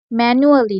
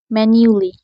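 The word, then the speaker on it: manually: এরপর ম্যানুয়ালি নয়, ম্যানিউলি, ম্যানিউলি।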